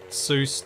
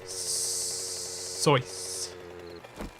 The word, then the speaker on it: Seuss: as bison said uh most people do tr pronounce seuss to rhyme with juice but that's not correct as per the man himself it was source i don't remember where